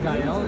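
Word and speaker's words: Gael: Dell. It's spelled G A E L.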